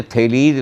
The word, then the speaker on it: Thales: भी अलग होते हैं, ग्रीक भाषा में ई जो है उसको डिटेल में बोला, लंबा करके बोला जाता है, और एस आगे आ गया तो लिखा जाएगा THALES।